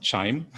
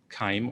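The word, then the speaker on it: QIIME: so um so chime is um basically it's pronounced chime like I'm saying it um so it's not Kim or Kim um I was created around 2010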